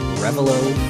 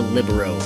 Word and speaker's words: Libero: and here it is here is the ZTE revelo 5G or my bad the libero 5G I keep getting the name wrong for some reason at first glance this